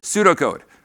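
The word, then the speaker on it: pseudocode: How do you say that? Why is the P in there? I don't know. Pseudo code.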